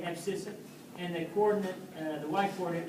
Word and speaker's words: abscissa: That's the way you say it, abscissa.